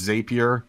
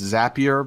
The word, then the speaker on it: Zapier: you think oh it's zapier wrong it's pronounced zapier because the owner weighed himself told me zapier makes you happier how it works right